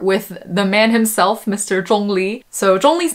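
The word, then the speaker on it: 钟离: tones it's just pronounced chong li which is first tone and then a second tone so for those of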